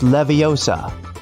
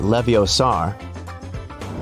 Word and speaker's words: Leviosa: help sometimes hey Siri it's Leviosa not leviosar measure app is a